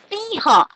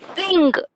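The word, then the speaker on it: सिंह: And last one for lion, we say sher also, but here the anuswar shabda siha. The actual pronunciation is siha, but in some states they are pronouncing. They say sing.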